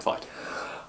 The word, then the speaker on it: Veidt: But the correct pronunciation, because it's a German surname, would be Veidt. Like Conrad Veidt.